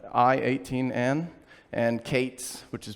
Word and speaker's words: K8s: I-18N, and Kates, which is pronounced Kubernetes, K8S, right?